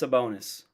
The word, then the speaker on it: Sabonis: the player's name because again I'm bad at pronunciations Dominus the bonus it's a bonus right yeah Dominus sabonis boom I got it um he essentially Stomps